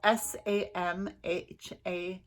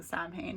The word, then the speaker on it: Samhain: to celebrate saline and it's spelt s-a-m-h-a-i-n so that's why i say samhain because like i said i'm a new witch so when i first started saying sally and i was saying sam hayne i'm pretty sure a